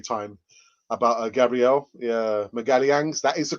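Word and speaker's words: Magalhães: this afternoon uk time about uh gabrielle yeah miguel yangs that is the correct uh pronunciation miguel yang's um it appears the deal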